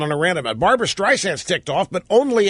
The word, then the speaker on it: Streisand: it mispronounces her name it calls her strides and instead of Streisand the the soft s is pronounced as a Z by ceri so she said she